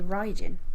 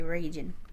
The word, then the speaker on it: Raijin: You say Raijin. I say Raijin. Do you know why I say Raijin? R-A-I, Rai. There's that, but the Japanese word for lightning and thunder is Rai.